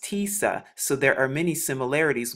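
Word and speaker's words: تسعة: pronounced in the ancient hebrew in arabic it's pronounced tisa so there are many similarities with the numbers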